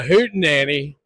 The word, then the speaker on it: hootenanny: But can you describe to me what's a hootin nanny? a hoot nanny. I mean, first of all, you've got to be from the south to say it right. Although they say it pretty well in England, too.